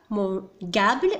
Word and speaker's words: mangeable: إذا أردنا أن نكتب mangeable فإننا لا نكتب مباشرة G يليه le A mangeable بهذه الحالة mangeable يكتب ب le E بين le G لكي نتحصل على le son G donc mangeable.